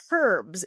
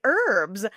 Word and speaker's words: herbs: Herbs. You say it in the British manner, whereas most of us Americans would say herbs.